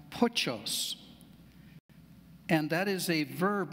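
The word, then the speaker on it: πτωχός: In the Greek, there's a word for poor pronounced pochos, and that is a verb meaning to shrink or to cower or cringe as beggars did in that day.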